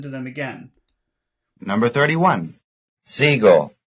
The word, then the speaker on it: sigo: Sigo, luna. Number 31. Though X and Y are very different, their stress is the same. That is, both are stressed on the first syllable.